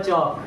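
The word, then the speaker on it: chalk: चक है अब देखना इसको चालक नहीं पढ़ते यहां पे एल होता है साइलेंट क्या पढ़ते हैं चाक आई हैव अ चक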